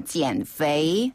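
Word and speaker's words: 减肥: 비슷해요 예 FA 요이 발음을 할 때 포인트는 뭐냐면 아랫 입술에 윗니를 살짝 대서라 플라워 할 때처럼 약간 이렇게 힘을 주면서 아랫입술에 힘을 주면서 내야 되는 발음이 그렇죠 페이이네 그래서 앤앤 다 지앤 FA 지앤 FA네 바로 다이어트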